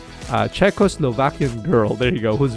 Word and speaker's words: Czechoslovakian: Czechos, see, I didn't even pronounce it right. Czechoslovakian girl, there you go, whose village had received assistance from UNICEF following World War II.